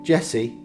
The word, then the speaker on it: Djesse: appeared on that debut Jesse a combination of his initials with a silent D was intended to be